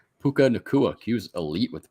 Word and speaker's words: Puka Nacua: Puka Nacua. Puka Nacua. He was elite with the pronunciation.